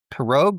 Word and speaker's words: Pirog: And do I pronounce his name perogue or perog?